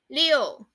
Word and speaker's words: 六: It is pronounced as 六.